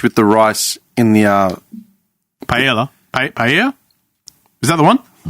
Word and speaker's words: paella: But when you say tortilla, yeah, you don't pronounce the L's, so it would be paella.